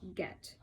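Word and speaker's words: Göth: It's spelled kind of weird, but it says it's pronounced Get.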